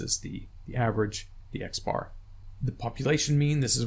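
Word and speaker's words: x̄: what it looks like the way you say this is X bar X bar equals the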